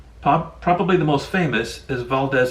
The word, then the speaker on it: Valdez: the most famous is valdez alaska mispronounced valdez by locals notorious for the oil